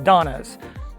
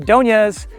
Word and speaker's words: Doñas: Anyway, everyone I know just calls the neighborhood the Donnas. But I've since learned that some people use the Spanish pronunciation, the Doñas. Either way, both versions are used colloquially because this area's official name is Laurelwood. Here's a simple approach, just say the Donnas.